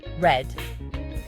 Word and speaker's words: read: Read, pronounced read, is the past form of read.